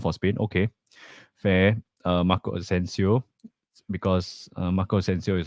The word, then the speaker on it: Asensio: So Joshua says they also have Asensio. Rhymes with Consensio.